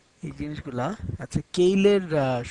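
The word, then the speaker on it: Keil: 32 bit controller এবং কেইল এই জিনিসগুলা আচ্ছা কেইলের সঠিক উচ্চারণ সম্মত কাইল বাট আমি কেইল বলে অভ্যস্তকে কেইল বলি প্রথমে আমি একটু স্পিডটা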